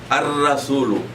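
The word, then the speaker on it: الرسول: Ar-rasulu. The letter ra is pronounced twice.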